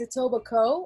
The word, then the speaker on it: Etobicoke: that place etobicoke yeah because it looks like that and i would say it like that if i wasn't from here too but it's a tobacco and you're not saying that like it's etobicoke just like you don't